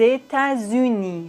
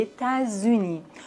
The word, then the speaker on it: États-Unis: La liaison est obligatoire dans la plupart des mots composés comme par exemple les États-Unis. les États-Unis ou bien porquep porquep